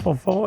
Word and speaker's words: Fanfant: Alors c'est très facile, vous tapez mon nom, Fanfan, alors ça s'écrit F-A-N, F-A-N-T, il y a un T